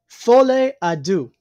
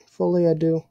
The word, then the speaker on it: Folie à Deux: It's called Folle à Deux. Which is French. I mispronounced that horribly. But it basically... Hold on. I gotta find the... Where's it at? Folie à Deux.